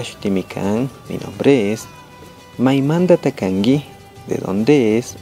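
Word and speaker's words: maimantata kanki: Maimanda takangi. Ñukami kani pukaramanda o Ecuador manda. Las letras en roja están subrayadas. Esas se cambian. La letra T se pronuncia como la D, la K como la G, por eso, Maimandata Kangi, ¿de acuerdo?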